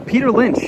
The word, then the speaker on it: Peter Lynch: Am I saying his name wrong? No, Peter Lynch, yeah, that is right.